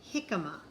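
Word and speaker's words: jícama: is for jalapeno and jicama usually j makes the j sound but in these words the j makes like an h k is for kumquat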